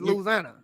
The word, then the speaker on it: Louisiana: You ain't saying it right. It's Louisiana.